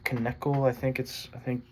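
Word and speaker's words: Knechtle: But yeah, basically, there's this guy named Cliff Knekle. That's how you pronounce his last name.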